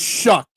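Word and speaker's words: Shough: It's pronounced shuck.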